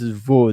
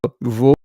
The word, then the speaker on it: Vaud: So Vaud, I think it's pronounced VOUD, Vaud.